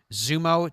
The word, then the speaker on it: XUMO: How do you say that one, Dom? Zumo, Dom says is the correct pronunciation, among other fast platforms.